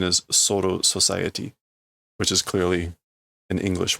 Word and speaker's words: Soul Society: the kanji is corpse Soul world but the pronunciation is soo society which is clearly an English word the restoration